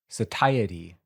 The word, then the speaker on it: satiety: I think I had a pronunciation for that word. Satiety. That's not what I would guess.